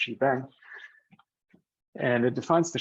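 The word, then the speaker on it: shebang: you know hash symbol exclamation mark this is pronounced gbang and and it defines the shell that will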